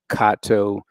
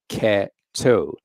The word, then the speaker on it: Catto: is spelled c-a-t-t-o and a lot of people forward exam for whatever reason call him Kato or kater or whatever but his name is Octavius cat toe cat as in feline toe as in foot and that's important because